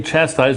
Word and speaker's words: chastise: are religious, and they chastise me worse than anybody. Exactly. They chastise me worse than anybody. To chastise someone is to criticize them severely. This is a verb with stress on the first part.